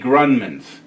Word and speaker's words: Grundman: The emphasis is on the first syllable. So there you go. These are the Grundmans, and they are ass-kicking musicians, and we welcome you guys.